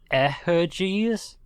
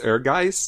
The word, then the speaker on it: Ehrgeiz: Like Eherges? Ehrgeiz. Oh. Yeah. I think isn't it pronounced Ehrgeiz? That's what I always thought. I thought it was Eherges.